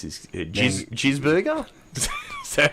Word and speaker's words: Gisbergen: Gisberger? Is that how you pronounce it? Shane Van Gisbergen.